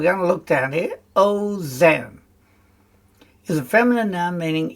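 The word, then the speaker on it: אֹזֶן: And the kamatz rule is that the kamatz becomes a short O sound when it's in an unaccented syllable, and usually the first. It's a closed syllable, meaning there's no vowel at the end of the syllable. There's no vowel after it, so it's oh no. And in the noun form, it's ozen. Right, that's just to help us.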